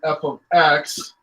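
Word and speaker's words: f(x): just as function notation this does not mean f times x this is pronounced f of x it's just saying hey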